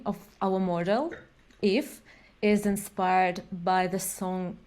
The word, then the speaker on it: IF: name of our model if is inspired by the song If by uh Pink Floyd very cool I was wondering yes I think yeah yeah so you pronounce it just if that's cool yeah I